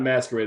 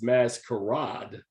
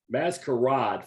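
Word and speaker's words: Mascarade: masquerade oh i'm sorry no it's not masquerade it's mass karod maskarad from france it's masquerade don't don't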